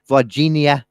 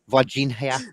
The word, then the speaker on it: Varginha: Not forgetting it, but forgetting how to pronounce it properly without it sounding like vagina. Varginha. Virginia. Varginha.